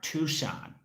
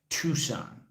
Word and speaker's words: Tucson: Right, okay, the C is silent in Tucson. All right, Tucson, Arizona. Tucson.